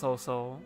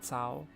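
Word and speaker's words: Cao: Uh, I will say it's throwing me to hear you keep talking about soul cuz while I know that's the Japanese pronunciation, the Chinese is more like sa sao.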